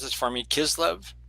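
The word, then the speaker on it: Kislev: It starts on different days on the Gregorian calendar but always starts on the 25th of Can you pronounce this for me? Kizlev K I know you did really good.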